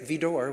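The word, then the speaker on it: Widor: Well, I was impressed that he knew to say Vidor when it's spelled W-I-D-O-R, that he said Vidor.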